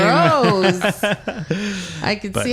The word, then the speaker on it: Stroh: Stroh. There's a beer in the U.S. called Stroh's beer, Stroh.